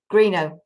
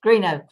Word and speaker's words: Greenough: Lela, I didn't say to you, is it Greenough? How do you say Greenough? Greenough. Okay. Yes. So I apologize. Greenough.